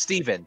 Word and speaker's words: Stephen: That's the spelling of my older brother, but his name is Steven. And it's pronounced Steven.